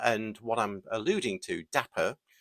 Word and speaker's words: Dapr: of course and that's where Dapper actually um if you say it like that uh comes into play uh but anyway back to daper uh with an R um so Dapper is